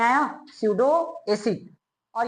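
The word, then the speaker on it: pseudo: अरे P silent है, स्यूडो acid. समझ में आया? स्यूडो acid.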